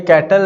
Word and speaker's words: Cattell: कैटल, अच्छा ये कैटल नहीं है, कुछ लोग इसको कैटल पढ़ते हैं, कुछ लोग इसको कटेल पढ़ते हैं। ठीक है, गूगल पे जाएंगे तो वहां पर प्रोनाउंसिएशन इसकी जो होती है ना कटेल होती है, तो हम भी कटेल पढ़ेंगे।